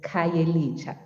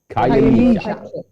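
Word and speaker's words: Khayelitsha: The pronunciation is Kyayelisha. Kyayelisha.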